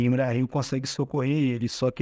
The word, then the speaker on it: Imrahil: Príncipe Imrahil de Imrahil. É assim que se pronuncia, de Dol Amroth.